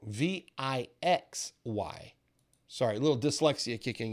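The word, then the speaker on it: VIXY: chart and this is vixi the vxiy uh V I just said it wrong V I X Y sorry a little dyslexia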